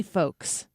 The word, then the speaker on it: folks: I say folks, F O A KS. I know that's not how it's spelled, but the L isn't the the L